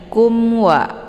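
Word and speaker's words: كُمْ وَ: cara bacanya dilembutkan saja Kemudian kumwa ada mim sukun bertemu dengan wau ya maka ini dinamakan dengan izhar syafawi cara bacanya mimnya dibunyikan secara jelas atau jelas bunyi m-nya kumwa ya cukup ditekan saja tidak perlu ditahan kemudian warahma ini ha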